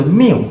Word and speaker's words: 谬: 好，再来是这个字念作谬，荒谬的谬。